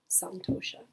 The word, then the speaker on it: Santoṣa: And we come today to Santoṣa. Got my specs on. Santoṣa, sometimes seen or pronounced and written as Santoṣa.